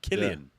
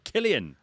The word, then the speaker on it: Cillian: Is it Cillian or? Yeah, you see, Killian. Yeah. Killian. You meant to say Killian.